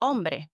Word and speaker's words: hombre: So if you want to be able to sound like a true Spanish speaker, drop the H. Words like hombre, man, instead of hombre.